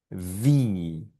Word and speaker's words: wie: La I con la E suena I. Veamos, leamos juntos estas tres palabritas. Primera palabra, esto simplemente suena vi, vi, vi.